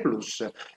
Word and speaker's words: Plus: Io pronuncio Plus anche, voglio dire, attenendomi a indirizzi, come dire, alti, e quindi pronunciò la latina come credo dovrebbe essere, però naturalmente chi preferisce la dizione inglese non sbaglia.